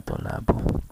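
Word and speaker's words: طُلَّابُ: Nah ini rafa'nya dengan dhammah, tulabu, bacanya tulabu.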